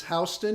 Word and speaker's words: Houston: Well, it's like in New York, it's Houston, and in Houston, it's Houston, spelled the same way.